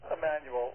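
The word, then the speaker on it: Jmmanuel: We pronounce it Emmanuel, although it's spelled with a capital J symbol at the front.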